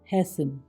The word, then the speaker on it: hasten: Next, TE, ये भी कई बार साइलेंट हो जाता है। HASTEN हैसन, जल्दी करना। LISTEN लिसन, सुनना। OFTEN ऑफन, अक्सर या प्रायः। SOFTEN सॉफन, कोमल बनना।